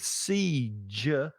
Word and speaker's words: siege: With siege, it's the J, like judge or January or June. It's that J sound, which is a different consonant sound. So it's the consonant sound that changes.